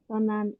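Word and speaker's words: 東南: Tonan Asia ikimashita.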